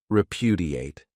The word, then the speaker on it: repudiate: This verb has 4 syllables, and the stress is on that second syllable, repudiate.